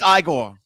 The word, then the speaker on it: Igor: Feldman and uh Frankenstein no I'm sorry it's pronounced Igor oh that's my that I've seen I